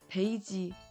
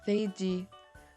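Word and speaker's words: 飞机: In Korean, it's easy to say peiji because there's no F sound in Korean. But we can just go with the English pronunciation and say feiji with the F sound instead of a P sound.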